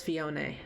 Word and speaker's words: Phione: defer to the Japanese oh it's written as fion in Japanese okay so yeah I do the